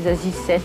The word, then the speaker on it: Za7ie: Est-ce que c'est Zazie, Zazie 7? Il y a plusieurs versions. Ça se prononce pas, ça s'écoute, j'ai envie de dire, mais c'est, oh ouais, c'est Zazie 7, quoi.